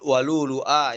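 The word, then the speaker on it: ولؤلؤا: Walulu'a sudah dibaca walulu'a ya, dibacanya walulu'a bukan walulu'a. Hamzanya bukan pada huruf dhamma huruf waw dua-duanya tapi salah satu aja walulu'a.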